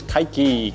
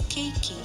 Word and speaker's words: keiki: How to pronounce keiki? The word for today is keiki.